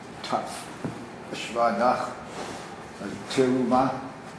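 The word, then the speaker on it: תרומה: It is Teruma. Teruma. Teruma. Yeah. Teruma. That is on the top. Teruma. It's not Teruma. When you have a dagesh on the top at the beginning of the word, isn't it make the shva under the top?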